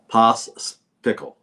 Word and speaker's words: Pospichal: Here's how you say it. Say pickle and put pos in front of pickle. Pospichal.